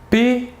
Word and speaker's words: pétrole: Premier exemple, pétrole. Ici, le et s'écrit de la manière suivante, un E avec un accent aigu. Et il se prononce et. Pétrole.